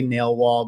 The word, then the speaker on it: Nailwal: i generally you know jokingly say that you remember the nail and you have the wall right so you put